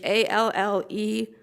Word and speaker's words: Alleyne: it's the Allen case, it's 133, Supreme Court 2151. I may be pronouncing it incorrectly, although I Googled it. It is Alleyne.